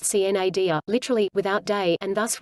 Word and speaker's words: sine die: Under the parliamentary law of Congress, when this happened, Congress became sine die, pronounced cnadia, literally, without day, and